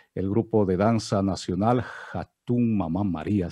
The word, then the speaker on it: Hatun Mama María: grupo de danza nacional Hatun Mamá María, si no lo pronuncié mal, mi estimado Wilson. Cuéntenos respecto a esta agrupación. Muchas gracias, Ramiro. Sí, estuvo bien pronunciado.